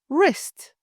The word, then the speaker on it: wrist: Wrist, pronounced wrist, not wrist.